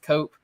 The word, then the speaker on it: Koop: on Twitter at nk-o-oop Coop with a K but it's pronounced cope um so Nick you've